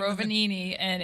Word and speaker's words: Rovaniemi: Rovaniemi, is that the name of it? Rovaniemi, and it's Do you know how to spell that?